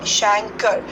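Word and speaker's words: chancre: lesions now these prime religions are Shanker's it's pronounced as Shankar they are seen on the external genitalia of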